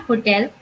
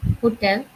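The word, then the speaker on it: hôtel: However, in French, we do not call it hotel. We call it hotel because in French, most of the time, the first H is silent or H overall is silent.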